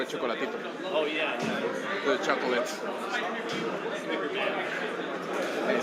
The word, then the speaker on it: Chocolatito: It's like, Well, we gotta say it like Mannix does Chocolatito. Like next time Chocolatito. no, they cut out the A. Chocolatito. Chocolatito. Like chalkboard, Chocolatito. Chocolatito.